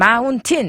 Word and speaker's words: mountain: 그러면 mountain 한국말은 강세가 똑같은데 영어로는 우리가 강세가 앞에 와요, 뒤에 와요? 앞에요. mountain 이렇게 해버려요. mountain T가 묵음이 돼버리네요.